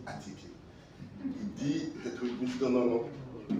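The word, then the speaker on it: attiéké: Et je voyais le ministre qui dit non, non, prononcez Atieke.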